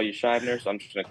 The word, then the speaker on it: Schibner: correct you here but it is it is Shyer I know but to pronounce it yes correct it is Shyer which I know that was one of sh